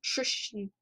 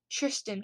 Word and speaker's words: Tristan: i said we should i always say it like christian it's tristan connolly um i picked connolly